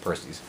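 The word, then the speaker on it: Perseus: taste everybody loves the purses our Percy's yeah purse knees it's Greek mythology name so yeah it would be pronounced Percy's everybody loves that everybody's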